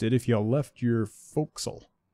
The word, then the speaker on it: forecastle: You might have noticed it if you left your forecastle.